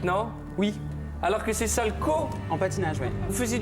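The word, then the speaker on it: Salchow: sal salco salco ou ça s'écrit S a L C H o W du nom de son inventeur salco j'étais persuadé qu'on faait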